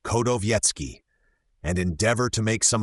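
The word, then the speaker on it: Chodowiecki: For it seems he never sat to any painter in his reigning days, and the Prussian Kowiecki, pronounced Kodowiecki, and endeavor to make some acquaintance with this Prussian Hogarth, who has real worth and originality.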